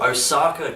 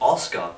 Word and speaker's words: Osaka: pronunciation here all right she is from Osaka Japan she is not from Oscar Japan see my point guys